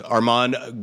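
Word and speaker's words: Armand: and late Robin Williams Arman Goldman the D is silent from the bird cage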